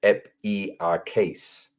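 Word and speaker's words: ἐπιεικής: And the pronunciation down here says epiakes.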